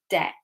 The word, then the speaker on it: debt: So the letter B is silent. Okay, so we don't say Debd. I can't even say it like that. Debd, something like that, right? We say debt. So the B's silent.